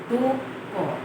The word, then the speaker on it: দুঃখ: দুঃখ, দুঃখ। আমার সাথে উচ্চারণ করো, দুঃখ হলো।